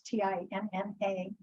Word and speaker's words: Tinna: You not pronounce Tina, it's Tinna.